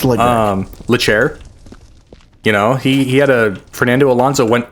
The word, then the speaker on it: Leclerc: 2018, Charles Leclerc, however you want to pronounce his last name. It's Leclerc.